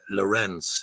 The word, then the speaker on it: Lorenz: 10 a Dane uh Lorenz it's pronounced the same way I suppose to rent but it doesn't have the T in it um so it's it's